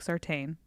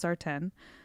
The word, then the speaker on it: Sartain: sardon that's p-a-y-t-o-n-s-a-r-t-a-i-n looks like Sartain it's pronounced sartin so that's Instagram and